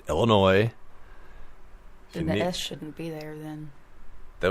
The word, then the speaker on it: Illinois: what it means anyway Illinois the S is silent there is no e at the end of it so it's not noise there's only one of them so it's not plural it's just Illinois shouldn't be there then